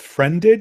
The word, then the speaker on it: Friended: All right, so I'm here with Friended. Is that how you pronounce it? Yeah, just like the Okay.